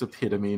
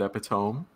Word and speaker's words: epitome: that entire Spiel yes it's epitome not epitome oh man pronunciation mistake